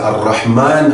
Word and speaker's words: Ar-Rahman: Meu irmão, minha irmã, aqui, nestes dois nomes, Ar-Rahman, Ar-Rahim, tal como você pode notar na pronúncia, Ar-Rahman, Ar-Rahim, são duas palavras com significados diferentes, mas com a mesma raiz.